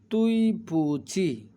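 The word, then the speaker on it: 对不起: সরির জন্য তুই পুচি এটা কিন্তু ডি না উচ্চারণ হবে ত এর মত আর এই উচ্চারণটা হবে চ এর মত তুই পুঁচি তুই পুঁচি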